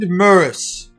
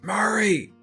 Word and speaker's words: Murray: for our dear friend Murris." It's Murray! Murray, I'm sorry, it's a pronunciation thing.